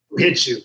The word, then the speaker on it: Whu-Hitu: Who Hit You. But I spell it WHU-HITU. Like Who Hit You, or like jiu-jitsu, but Who Hit You.